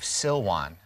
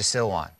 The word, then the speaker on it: Silwan: As I pan to the right here, we're looking at the Arab village of Silwan. It sounds like the word Siloam, as in the pool of Siloam. It's the same word.